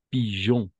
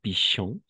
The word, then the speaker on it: pigeon: g et E comp pigeon et non Pichon pigeon d'accord à toi